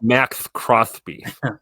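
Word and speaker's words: Maxx Crosby: Here's It's pronounced Max Crosby.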